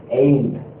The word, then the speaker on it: ain't: இந்த am not நீங்க சுருக்குறீங்கன்னா சுருக்கமா சொல்லும் பொழுது ain't.